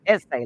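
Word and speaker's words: assay: a y essay but it's pronounced essay like a school essay office and so this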